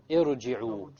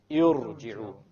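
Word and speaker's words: ارجعوا: Notice now, the ra is what? Silent. Silent first. There's a sukoon there. Okay, the ra is silent. Before the ra is what? This is what we call hamzatul wasl. This is a hamzatul wasl. It has been placed there because if you were to start this word, how are you going to start it from a silent ra? You cannot pronounce the silent ra.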